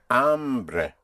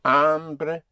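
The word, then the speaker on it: hambre: The word for hunger is amre. Spelled h a m b r e. Not to be confused ever with ombre which you may have heard ombre h o m b r e means man but amre means hunger for I'm hungry you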